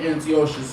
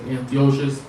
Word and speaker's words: Antiochus: So, a lot of times with the name Antiochus, a lot of times you talk to brothers, Israelite brothers, you're going to see a lot of times you're going to pronounce it as Antiochus. When you go into his historical accounts, you see them, they're going to pronounce it as Antiochus. So it's interchangeable, because my slave name is Ezekiel, right?